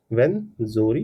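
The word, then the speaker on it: Rwenzori: This mountains are called the वेंजोरी are silent हो जाएगा। Saleable ये साइलेंट हो जाएगा। तो वेंजोरी माउंट्स कहते हैं इसको।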